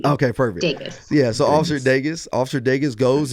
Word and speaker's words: Degas: So it's like Vegas, the city, but with the D. Okay, perfect. Degas.